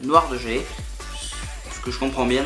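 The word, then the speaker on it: noir de jais: argent bien évidemment, et la nouvelle couleur, le noir de Jay. Alors je sais pas si vous prononcez bien, noir de Jay, noir de Jay, noir de Jay.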